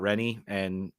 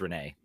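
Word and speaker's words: René: He seems to talk up a lot about Rennie or Renee. I think it's Renee. Is how it's pronounced.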